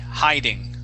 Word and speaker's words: hiding: and this word here is hiding it has a long eye hiding yeah okay uh very